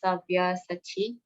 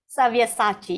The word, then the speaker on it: Savyasachi: They are already put to death by my arrangement, and you, O Savyasati, can be but an instrument in the fight. Did I pronounce that right? Savyasachi. Yes, correct. Very Sabyasachi.